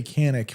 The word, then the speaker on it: Canik: Akai what they say why they say Canik with a K instead of proper in English the word c pronounced K that's why uh what's